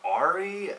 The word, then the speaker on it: Auri: album, or the band Auri, A-U-R-I, I believe that's how it's pronounced, and that shit was fucking fantastic.